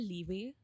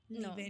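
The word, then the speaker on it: Laufey: That is वन and then have you told of this artist called लीवे। लीवे no. Okay. Her pronounce her spelling is एल ए यू एफ इ वाई।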